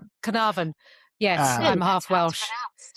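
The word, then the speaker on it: Caernarfon: Canavan. There you go. Canavan. Yes. I'm half Welsh. That's how it's pronounced.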